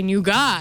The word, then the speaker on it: nougat: it you know like no that's not how you say it like you say nuga and then I kept saying nugat and he's still he